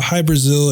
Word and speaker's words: Hybrasil: high Brazil all right hi Brazil not to be confused with the country Brazil it's not even spelled the same way uh hi Brazil it's spelled h y-b